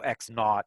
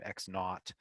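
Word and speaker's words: x₀: pronounce that zero naught using sort of a british pronunciation for the zero okay so x naught you'll hear physics physics teachers and mathematicians say that all the time x naught what do these all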